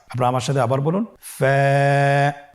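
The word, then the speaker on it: فاء: ফা হরফটি উচ্চারণের ক্ষেত্রে বারিক হবে এবং এক আলিফ টেনে পড়তে হবে। আপনারা আমার সাথে আবার বলুন। ফা।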